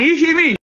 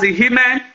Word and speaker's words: Ihimi: And Ihimi, which has over the years been mispronounced as Ihime, Tochime, and Tochima over the years, is important because the history ties Obaewai the first to Iseluku.